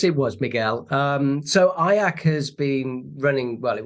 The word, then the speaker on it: IACC: um the association is fondly known as ayak the only word that rhymes with kayak I've been told so